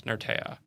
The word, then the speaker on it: Nertea: How do you pronounce Nertea? Is it Nertea, Nertea, Nertea? There's a bunch of things you on got here. You got it right. It's Nertea. So I knew that one was coming.